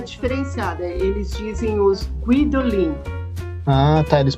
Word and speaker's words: Guidolin: na hora de pronunciar ele pronunciou de alguma maneira que o escrivão colocou vidolin então não entendeu que ele tinha falado guidolin né guidolin daí ele escreveu tem